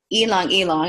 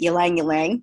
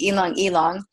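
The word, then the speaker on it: ylang-ylang: ingredients it's like cooking uh grapefruit peppermint and elong elong I know a lot of people pronounce it yangang y Lang but it's elong elong um so this is like cooking you know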